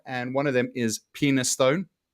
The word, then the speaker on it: Penistone: yeah, But there are a couple of names here for places in Yorkshire, and one of them is Penistone. pronounced Peniston, but yes, it is spelt Penistone.